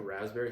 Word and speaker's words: raspberry: Do you know raspberry has a pee in it?